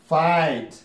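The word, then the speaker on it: fight: شاته جی ایچ راشي د جی ایچ نه تلفظ کېږي دا ما درته ویلي وه لکه فایت لکه فایت لکه دا د جی ایچ نه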